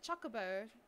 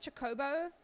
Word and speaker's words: Chocobo: you're a wenus yes I pronounce it Chocobo you call it chobo I'm sorry to hear